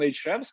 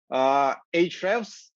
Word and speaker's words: Ahrefs: call themselves SEO, would be able to open Ahrefs, plug their website, and get some actionable insights